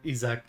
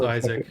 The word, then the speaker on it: Eac: Yeah, Eac. Saying Eac. Yeah. Not to be confused with Isaac, but it's EAC.